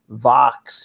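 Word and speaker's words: Vaux: accessory I think it's probably pronounced Vox V aux it's like $49 and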